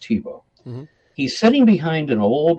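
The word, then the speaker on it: Thibault: t h i b a u l t pronounced TBO he's sitting behind an old wooden desk with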